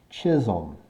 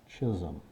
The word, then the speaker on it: Chisholm: Chisholm. That's how we're going to pronounce that. Chisholm.